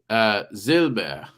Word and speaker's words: Silber: You pronounce the B. It's a silversmith. Zilber. Zilber. Zilber. So the S is like Altoner. a Z. The S is like a Z, and the B is like, I mean, it's still a B.